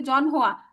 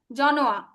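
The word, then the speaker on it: 전화: আচ্ছা, থংসাং হানতে জনহাস্যয়, এই যে জন হোয়া, আমরা নর্মালি এটা উচ্চারণ করি জন হোয়া, তাহলে কি হবে? জনোয়া।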